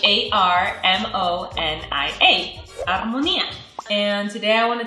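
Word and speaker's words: armonía: going to be Harmony and in Spanish it's armonia h a r m o n i a armonia and today I want to talk about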